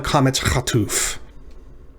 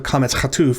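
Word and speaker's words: קָמַץ חָטוּף: So recall that the A class vowel that looks like this is called kametz, and it's pronounced ah. But in the O class, it's pronounced o.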